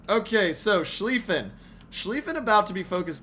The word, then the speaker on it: Schlieffen: Lion sometimes uh but good to know the pronunciation okay so schliefen Schlieffen about to be focused down uh I